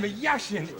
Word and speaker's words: Yashin: Yashin! Is that how you say it? Yashin is right!